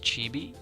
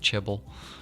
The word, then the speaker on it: chibi: A is going to be it's pronounced chibi. Chibble. I'm over here saying chibble.